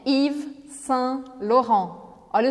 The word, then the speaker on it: Yves: Presta atenção que esse Yves termina com ES, mas eu não pronuncio nem o E nem o S no final. Eu só vou falar o Y e o V.